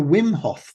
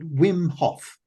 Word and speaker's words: Wim Hof: happens to be the most difficult, is the Wim Hof method. Wim Hof. W-I-M. Spell that.